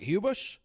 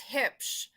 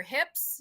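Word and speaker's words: Huebsch: It's like your hips, you know, like where your belt goes. And then shh, be quiet. Hips.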